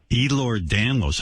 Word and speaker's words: Ehlers-Danlos: Ehlers-Danlos.